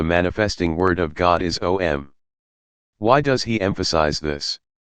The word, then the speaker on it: Om: The first letter, A, is the root sound, the key, pronounced without touching any part of the tongue or palate. M represents the last sound in the series, being produced by the closed lip, and the U rolls from the very root to the